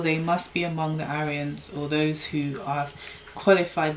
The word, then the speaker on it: Aryan: requirements and therefore they must be among the Aryans or those who have qualified themselves become Aryans